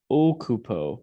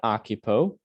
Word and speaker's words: occupo: Occupo, not occupo.